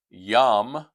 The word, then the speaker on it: Yam: including the one named Yam, we'd spell it yam, like yam, like we're yams, uh, sweet potatoes. Of course, those vegetables are are different, but we refer to them the same way.